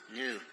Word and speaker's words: Nu: The closest pronunciation is Nu.